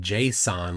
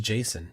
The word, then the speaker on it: JSON: Fortran thank you for not pronouncing it Json like everyone else it's just Jason JS o n Jason um iy spin says a